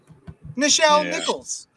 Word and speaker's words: Nichelle Nichols: Nichelle Nichols.